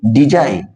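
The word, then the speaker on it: design: जी के बाद जब एन आता है तो हमारा ये जी बोला नहीं जाता है, इसको भी पढ़ेंगे डिजाइन।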